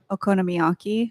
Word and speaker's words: okonomiyaki: Okonomiyaki.